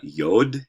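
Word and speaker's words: יוד: hard t sound uh yod is like our y and then um something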